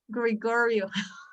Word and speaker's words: Gregorio: how do you pronounce gregorio and i was like oh my goodness i use the magic of the schwa and i say gregorio yes that's correct for